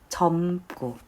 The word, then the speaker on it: 젊고: 자, 그리고 세 번째 젊고. 젊고. 조금 길게 발음이 나는 것 같은데 젊고, 젊고.